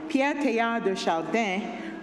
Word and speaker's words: Pierre Teilhard de Chardin: This little life of mine, I'm gonna So I'll pronounce his name in French, so if you usually pronounce it in English, sorry. Pierre Teilhard de Chardin, French Jesuit, Catholic priest,